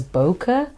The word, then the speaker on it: bokeh: going to talk about bouquet so today we're going to talk about bouquet it is actually a Japanese word pronounced as bokeh but because I have